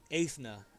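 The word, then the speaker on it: Eithne: one more time which one the last one ethna I'll spell that e-i-t-h-n-e so he said he Jesus where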